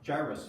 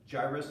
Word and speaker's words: Jairus: Jairus, again. Jairus, it rhymes with virus, okay?